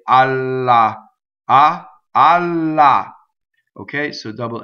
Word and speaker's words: ha: going on the word ah H is silent in Italian right ah so it's